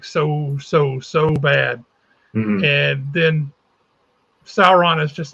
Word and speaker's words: Sauron: Is that how you say it, Sauron?